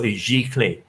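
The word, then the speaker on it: giclée: e is pronounced as clay it sounds like clay so g clay g clay print making okay so uh everyone anyone wants to try michael germany right so it's like g is like uh you just brush through the tone through your teeth okay so where we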